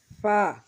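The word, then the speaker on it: فاء: এরপর ফা, ফা আমরা যেভাবে উচ্চারণ করব, নিচের ঠোঁটের পেট সামনের উপরের দুই দাঁতের আগার সঙ্গে লাগাইয়া ফা, ফা।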